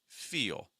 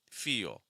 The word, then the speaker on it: feel: So it's going to sound like eel, eel. Do you see? I do like E, and then it's almost like adding a half syllable, like oh, eel, eel, eel. So I'm going to say feel, feel. It's like E, eel, feel, E, eel, feel.